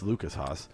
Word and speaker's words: Lucas Haas: It's Lucas Haas.